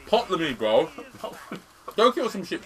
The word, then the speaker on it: Ptolemy: Oh, you were actually with Ptolemy. I was a sea fetus. Why do you have to pronounce the P in his name for? It's Ptolemy, bro.